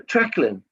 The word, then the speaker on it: Treclyn: Hard sea, not soft sea. Sounds like, okay. So, Treclyn. Sounds like a K.